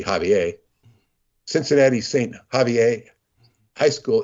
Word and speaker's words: Xavier: Cincinnati's Saint, mispronounced Xavier. Everybody calls it Xavier. It should be Javier.